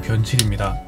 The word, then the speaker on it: 변칠: 발음에 주의해주세요. 똥칠 아니고 변칠입니다.